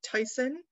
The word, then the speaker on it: Teson: this is i know captain tyson's name is pronounced tyson because in some census forms and transcriptions his